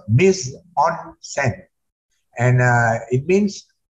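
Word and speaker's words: mise-en-scène: anymore next please so Nissan sent is the director's count Nissan is a French term originally from the stage and it is pronounced Miss on Cent and uh it means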